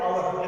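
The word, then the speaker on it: hour: Sound नहीं बोलेंगे क्योंकि आवर का pronunciation is आवर एंड it starts with O, आवर।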